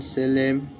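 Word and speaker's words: solemn: আই এম ইম এস ও এলই এম এন সেলেম পি এস ওয়াই সি এইচ ও এল ও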